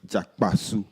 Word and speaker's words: Jakpasu: Jakpasu. That's how it's pronounced.